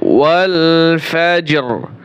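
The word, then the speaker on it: والفجر: তাহলে কীরকম? ওয়াল ফাজর, র উচ্চারণ করতে হবে, ওয়াল ফাজর।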